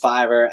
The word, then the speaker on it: Fiverr: It's pronounced Fiverr because it's technically like $5 on it. So Fiverr. But Fiverr is a company